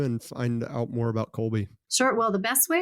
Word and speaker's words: Kolbe: I learned a lot I'd spend time with Colby every day and I feel like you know